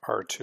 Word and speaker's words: R2: exponent r2 r3 and please don't pronounce it r squared or r cubed it's r2 and r3 so r2 refers to